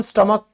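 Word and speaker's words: stomach: फिर स्टमक, पेट, तो दोस्तों जब भी हम स्टमक की बात करते हैं तो हमने ध्यान नहीं दिया है, हैच हमेशा साइलेंट होता है।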